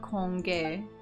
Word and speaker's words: congee: Congee, that's how it's pronounced.